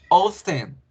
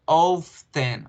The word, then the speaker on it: often: Often, sometimes, pronunciación often o often. La T se desaparece en el americano.